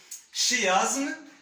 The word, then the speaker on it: chiasme: Évidemment, il s'écrit sous forme chiasme, mais au niveau de la prononciation, le côté de la phonétique, la phonologie, il se prononce chiasme.